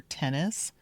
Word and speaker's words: tennis: the tennis courts or tennis. But the pronunciation is tennis courts. Tennis courts. Tennis courts. Okay. Be careful not to say tennis. Short e t and then short i.